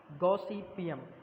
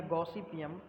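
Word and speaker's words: Gossypium: ठीक है, कपास का वैज्ञानिक नाम है गॉसिपियम। गैसीपियम या गॉसिपियम, इंग्लिश में इसको गॉसिपियम ही हम लोग पढ़ते हैं, हिंदी में अलग अलग आप प्रोनाउंसिएशन अपने अकॉर्डिंग करते हैं।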